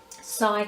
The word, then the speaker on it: Psy: cards i use are called sci cards which is spelled p s y sigh cards and they are